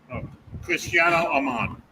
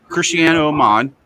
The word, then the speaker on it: Cristiano Amon: Okay, this how you say is Cristiano Amon. Cristiano Amon.